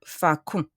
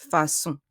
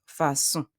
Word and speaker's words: façon: If there was no CD, I would pronounce it facon. But because of the CD, I pronounce it façon. A CCD sound resembles an S sound. It's a S sound, façon.